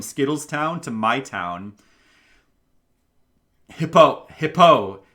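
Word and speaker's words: Hippeux: Hippo. It's spelled like Hippauix. It's like French. It's a French hippo.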